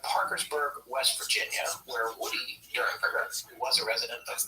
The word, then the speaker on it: Derenberger: I thought it was Derenberger, but I did hear, I think in the interview that we're going to have some excerpts from tonight, I heard it pronounced Dernberger. It's spelled like it's Derenberger. It is spelled Derenberger, but I think it's Dernberger. Either way, we're going to call him Woody.